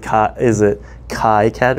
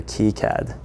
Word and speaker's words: KiCad: Choose a side on how you want to pronounce it. Is it KiCad or KiCad?